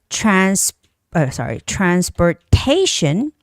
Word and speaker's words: transportation: And there's the transportation, destination, and information. Okay, anytime when a word has tion ending, the stress goes on the syllable in front of tion. So location, transportation, destination, and information.